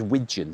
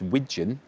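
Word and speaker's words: wigeon: That says wijon. It's not pigeon that I'm mispronouncing. It's wijon.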